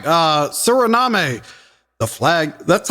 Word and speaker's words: Suriname: All right, Suriname, the flag.